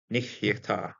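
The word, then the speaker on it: נהיתה: I'm going to pronounce the second shva because first one nich is going to close the syllable. Second one is going to be pronounced.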